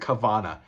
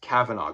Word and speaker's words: Kavanagh: He says it Kavanagh. That's wrong. I want to strangle him when he says that. It's Kavanagh, guys. Trust me.